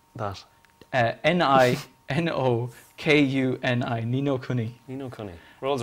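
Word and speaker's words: Ni no Kuni: like a lot of uh how do you spell that n-i-n-o k-u-n-i nino kuni you know world's right off the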